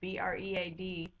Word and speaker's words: bread: Think of the word bread, B-R-E-A-D, and how it's actually a short E sound, F, and we say it bread.